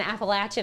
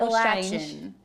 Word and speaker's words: Appalachian: app a latch n Appalachian not appalachi the people say appalachi yes they do that's weird it's app appalation stop saying that there was somebody else